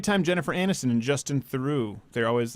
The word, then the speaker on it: Theroux: You should know how to pronounce that. It's not Theroux. It's Theroux.